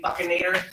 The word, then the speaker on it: buccinator: And then right underneath that, you'll have the buccinator muscle. Some say buccinator. So if you go to Bucky, you said right W, remember the buccinator, it's spelled the same way as the, what is he, a beaver?